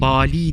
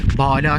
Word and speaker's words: Bâlâ: Bala Süleyman Ağa Tabii şu kelimeyi Bali diye de okuyabiliriz Bali ismi de çok kullanılıyor malumunuz Bala şeklinde de telaffuz edilmiş ki e burası bakın